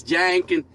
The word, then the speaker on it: Jenkins: I just like saying Jenkins because, we always don't say it right. It's Jenkins. It's really Jenkins.